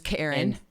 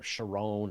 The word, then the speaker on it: Charon: we say Pluto and Charon uh-huh and there's Karen people take Karen or cheran or cheer on or sharone or whatever right and so Sharon is the way that Allen Stern from New Horizons pronounces it and that's good enough for me yeah right yeah the